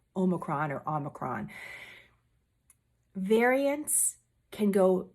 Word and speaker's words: omicron: headlines about omicron omicron the way that everyone's pronouncing it is not omnicron i am not an expert at the greek alphabet but it's not omnicron it's omicron or omicron variants can